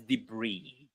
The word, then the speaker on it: debris: So, B, we pronounce it as debris.